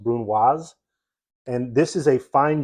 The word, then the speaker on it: brunoise: as a brunoisette and you sometimes hear brunoise mispronounce people say Bruno that's incorrect it's pronounced brunoise and this is a fine julienne which is